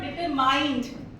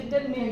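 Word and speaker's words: determined: the workshop यसम okay so इट इज नॉट डिटरमाइंड ये डिटरमाइंड word तो बारबार यूज करना पड़ेगा ना लाइफ में इट इज डिटरमिन ट इट इज नॉट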